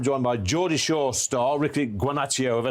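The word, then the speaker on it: Ricci Guarnaccio: last orders at the B and I'm joined by Jordi Shaw star Ricky guano have I said that right is that Italian yeah it is parent pronunciation was was pretty much perfect yeah yeah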